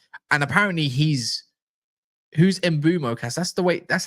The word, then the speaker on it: Mbeumo: And apparently he's who's embumo cast.